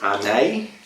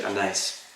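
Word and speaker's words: Arneis: aware he's an Italian grape variety some people pronounce it a day which I guess it's a not a knowledge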